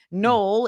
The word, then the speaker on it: Noel: Null is known as a Christmas city because it's spelled Noel. N O E L.